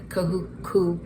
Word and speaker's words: Kahuku: So, we just left from two hands and kahuku poke.